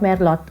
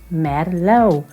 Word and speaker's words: merlot: without people ordering merlot no guys it's not me a lot oh my little it's mer merlot how low merlot so yeah the next